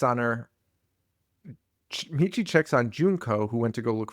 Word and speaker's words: Junko: Junko, dude, I gotta stop saying it like that. Junko, it's spelled Junk-O, Junko. So I'm sorry for mispronouncing it.